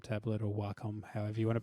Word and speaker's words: Wacom: vector drawings with I didn't even have a Wacom tablet or Wacom, however you want to pronounce It's Wacom. We're Australian. It's Wacom.